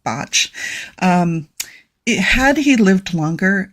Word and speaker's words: Bach: And it looks like Bach, but he was Welsh and it's pronounced Botch.